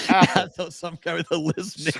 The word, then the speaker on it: Athol: Atoll. Atoll. Age of silence. Like something different, Will. Atoll. Just so we can say it with our chest. It sounds like asshole, but it says Atoll.